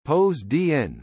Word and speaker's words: Ποσειδῶν: Poseidon, Greek, Poseidon pronounced pos dn, was one of the 12 Olympians in ancient Greek religion and myth, god of the sea, storms, earthquakes and horses.